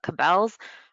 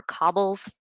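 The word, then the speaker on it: Cabells: Lastly, I want to talk about Cabels or Cobbles, two different ways of pronouncing it, but this is a database that the library subscribes to, and it is research into predatory journals.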